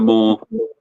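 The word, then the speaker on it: Maw: Dragged into the more more is good.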